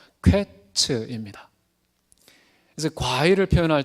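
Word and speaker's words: קֵץ: 근데 끝이라는 말의 히브리어 발음은요, 퀘츠입니다.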